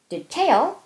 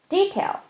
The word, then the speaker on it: detail: 앞에 거는 tail의 강세 있고 뒤에 거는 d의 강세가 있잖아요. 이런 거는 둘 다 된다는 뜻이에요. detail, detail.